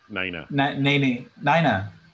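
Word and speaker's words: Neneh: even know how to say her name, but Nene Cherry, Nene Cherry? Nene Cherry, Nina.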